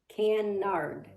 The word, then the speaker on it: Kennard: It is pronounced Canard.